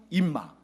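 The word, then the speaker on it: אִמָּא: 그러니까 아빠는 아빠, 엄마는 임마. 발음이 거의 비슷하지 않나요?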